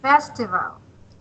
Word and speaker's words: festival: So, Yes, festival. Your intonation should be at the first syllable.